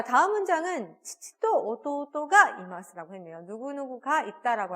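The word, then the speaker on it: 父: 다 치츠테토에 나오는 치이기 때문에 발음이 쉽지 않습니다. 연달아 나오기 때문에 이렇게 약간 훅 치고 이렇게 복싱해서 이렇게 치고 칙칙, 이 바로 그 느낌이에요. 그 소리가 나도록 치치라고 하면 일본어로 아버지가 됩니다.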